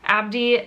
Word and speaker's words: Abdi: Hi, my name is Abdi. The first syllable of my first name is ab like the abs you work out when you do stomach crunches.